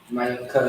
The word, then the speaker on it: Mayuka: Mayuka is how you pronounce it.